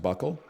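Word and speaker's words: buccal: removal and we all look like this it's pronounced Buckle people would be like you look really good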